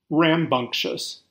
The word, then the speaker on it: rambunctious: rambunctious this is a fun and different word to say spell and use in general bunk is pronounced bunk a hard k sound there we have a